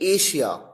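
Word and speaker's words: Asia: यहां पर एस के साथ एच नहीं आया, डबल एस आया है, लेकिन प्रोनाउंसिएशन में शलगम वाला श है। पैशन, प्रेशर, अच्छा, अब देखिए एशिया।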